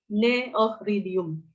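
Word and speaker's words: Cneoridium: Makanya karena ini dihilangkan, harus dihilangkan, maka ya kita harus membacanya Neohridium.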